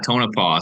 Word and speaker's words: Tonopah: in what's going on in Nevada at the tonopo project is that how you say it yeah Tonopah so that's another one of these famous Wild